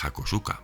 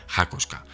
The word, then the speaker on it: Hakosuka: apodo bueno sabréis que llevamos toda la vida llamándole hakosuka pero realmente eso está mal dicho en japonés sería algo así como hoska así que bueno vamos